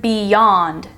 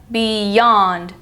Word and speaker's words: beyond: about the word Beyond this has the Y sound like y Beyond y that's an exception to the rule this happens when Y is placed after one syllable Beyond anytime you have one syllable and then a letter Y at the start of the next it will make the Y sound this exception is extremely